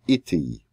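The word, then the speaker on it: אִתִּי: With little difference, it looks like oti, which means me, direct object, but it's pronounced a little bit differently, iti, with me.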